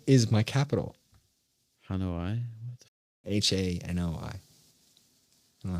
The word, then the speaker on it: Hanoi: I don't know no hanawaii is my capital why h-a-n-o-i I don't know how to pronounce it Vietnam see that I think it's Hanoi right yes Hanoi thank you well done well